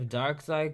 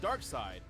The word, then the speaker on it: Darkseid: The winner is Darkseid. Darkseid. I still don't understand why they spell it dark and then S-E-I-D. Why don't just say dark side, dark S-I-D-E.